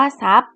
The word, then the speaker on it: ทรัพย์: ทราบ อินทรีย์ อ่าน ว่า อินทรีย์ ทรัพย์ อ่าน ว่า ทรัพย์ หลัง จาก ที่ เรา เรียน จบ แล้ว เนี่ย